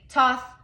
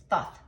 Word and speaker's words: Thoth: Some say Toth, Toth, Thoth. The way he told me to say it is Thoth. Okay, so that's how I'm going to pronounce it.